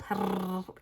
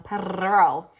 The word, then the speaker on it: Perrault: So Jules Perrault, gotta get this R on, Perrault, was a well-known ballet teacher and choreographer.